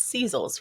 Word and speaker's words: Szeles: Please don't hate me if I mispronounce this. It's Szeles, right?